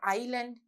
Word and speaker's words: island: Now when we say the word island, do we hear the S sound here? අපිට S කියන ශබ්දය ඇහෙනවද පුතේ අපි island කියනකොට? නෑ. Letter S is a silent letter.